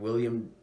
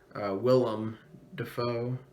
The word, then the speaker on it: Willem Dafoe: Robert Pattinson and William, why can't I say his name? Willem Dafoe.